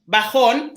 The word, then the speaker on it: bajón: For example, bajón. So always the accent would go on the last vowel, so it would go on the O, Okay.